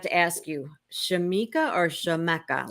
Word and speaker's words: Shamecca Stephens: believe I forgot to ask you Shamika or Shameka like how do you say your name Shamika Stevens Stevens I meant to ask but I always